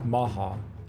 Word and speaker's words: Omaha: The Omaha, pronounced Maha, and Potawatomi had formed an alliance years earlier to fight and defend against their mutual enemy, the Sioux.